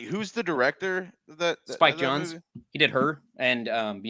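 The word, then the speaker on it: Jonze: spicy no no no no names you he pronounces it john's wait okay all right wait wait wait wait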